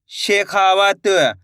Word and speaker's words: शेखावत: शाह में एक की मात्रा शे, खा में की मात्रा खा, व तो मिलके बन जाएगा शेखावत। कैसे पढ़ेंगे? शेखावत।